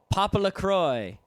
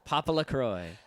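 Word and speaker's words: PoPoLoCrois: o i s and that is pronounced papaa Croy if you don't know how to say that you're there's something wrong with you papa La Croy I remember a kid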